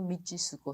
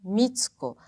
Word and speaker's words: Mitsuko: Pessoal, não sou Michisuko, sou Mitsuko. Mesma coisa, digo, com tsunami, né?